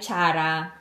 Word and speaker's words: Zara: Dito kasi sa Korea ang pronunciation ng Zara ay Chara.